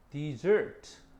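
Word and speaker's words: dessert: desert 요건 뒤에가 있지.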